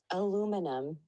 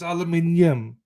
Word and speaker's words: aluminium: So this is how Maxi and you Americans say it. Aluminum. Aluminum. What the fuck? It's aluminium. Aluminum. It's not. It's aluminium.